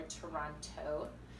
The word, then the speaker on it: Toronto: And you can tell if people are really from Toronto if they say Toronto or Toronto. you say Toronto, you're not from Toronto. The T is silent, boo.